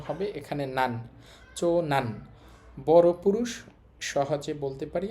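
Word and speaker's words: 長男: চো, চো মানে হচ্ছে বড়, আর এইটা দিয়ে তো পুরুষ বোঝায়, উচ্চারণ হবে এখানে নান। চো নান, বড় পুরুষ, সহজে বলতে পারি আমরা বড় ছেলে।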